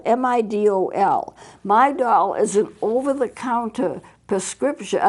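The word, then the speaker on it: Midol: a woman probably would know but my doll is spelled m-i-d-o-l my doll is an over-the-counter prescription not prescription over-the-counter medication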